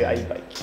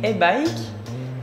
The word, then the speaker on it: Haibike: Alors, on entend souvent i-bike, e-bike, et je pense que la bonne prononciation c'est i-bike. La plus mauvaise prononciation que j'ai entendue pour la marque était e-bike, et bien sûr on dit i-bike.